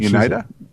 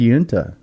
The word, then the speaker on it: Uinta: That's what Unida? No. She said Uinta.